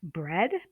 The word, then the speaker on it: bread: Break and bread both have the EA, but we have break, which takes the long A sound, and bread, which takes the short E sound, as opposed to the